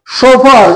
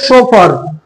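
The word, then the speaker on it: chauffeur: দেখো হু teaches art of dancing number eight সোফার উচ্চারণটা হচ্ছে সোফার সফার নয় সোফার হু ড্রাইভস মোটর কার মোটর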